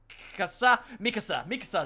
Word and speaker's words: Mikasa: Mikasa is how you pronounce her name.